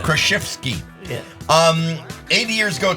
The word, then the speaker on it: Kraszewski: Krushinsky Krushinsky. 100 Did I pronounce it wrong one time?